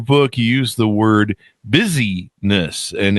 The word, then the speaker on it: busyness: Now you title your book, you use the word busyness, and it's spelled busy as in busy and then ness.